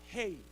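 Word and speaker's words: ה: Hey, dibacanya hey, ya.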